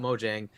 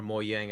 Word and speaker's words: Mojang: Why don't we buy Mojang? It makes sense, right? Or Mojang, I think is how it's actually pronounced.